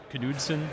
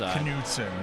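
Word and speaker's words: Knudsen: I believe it's Canudson. Now, the the Danish pronunciation is Canudson because of course it's referring to the old King Canude.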